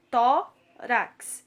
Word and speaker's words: tórax: Então, essa palavra ela é de sílaba. Tórax. Só temos duas sílabas. Então, tó é a penúltima sílaba, portanto, essa palavra é paroxítona.